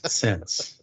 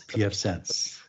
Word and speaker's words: pfSense: correct in my pronunciation is it sense no it's not sense no it's pf sense okay yes very very